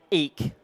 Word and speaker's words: Ek: nobody about it Daniel eek is actually looks like Eck but it's pronounced eek had raised 70 million